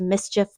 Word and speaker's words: MSCHF: Now, I think this shoe company is actually pronounced Mischief, but I don't know that for a fact, so leave me a comment if you know.